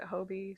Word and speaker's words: Hobbii: Everyone else pronounces it Hobie, so I have to assume there's something I don't know We're gonna go with Hobie.